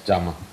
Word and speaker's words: Giamma: Is that the correct way to pronounce her name? Yes, yes, Giamma.